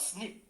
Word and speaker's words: SNP: now we talk about snip s sniff sounds like snip when you hear it you look at the